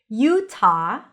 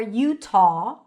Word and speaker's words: Utah: Utah or Utah, aw with an aw sound.